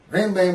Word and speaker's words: Rambam: The Rambam, I think this is how you say it, Maimonides, compiled what he